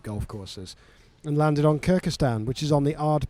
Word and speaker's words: Kirkistown: No, Kirkistown, I think is how you probably Kirkistown would Castle. spell it. Everyone seems to call it Kirkistan.